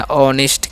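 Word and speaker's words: honest: अब एच ओ एन एस टी हम पढ़ते हैं ऑनेस्ट, क्या पढ़ते हैं ऑनेस्ट, ठीक है।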